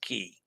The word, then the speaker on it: quay: All right, so I really didn't know that Quay was also pronounced Key.